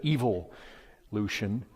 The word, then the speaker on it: evolution: irrefutable evidence for evolution he calls it evil Lucian I yea the Brits say it right but see he thinks